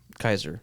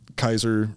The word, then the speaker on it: Caesar: i should be saying kaiser or keyser i think kaiser dude i think it's yeah i think it's actually kaiser that's the way the germans pronounced it and the germans did